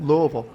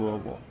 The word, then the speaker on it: Louisville: Louisville. Louisville. Louisville. It's spelled like Louisville, but it's Louisville.